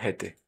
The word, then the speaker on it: hätte: Muy importante que esa A, como tiene umlaut, sea pronunciada como una E y no como una A, para no confundirla con el pretérito de haben, o sea, hatte, yo tuve, yo tenía.